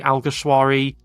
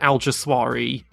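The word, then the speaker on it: Alguersuari: Jean alysi um okay so with this one most people just say something like Hae I've heard Al Gwar Jonathan leard used to say alwari Martin brundle says said alas swari I usually say alari but my first thought was SAR this would be something like haime aljari something along those lines I don't really know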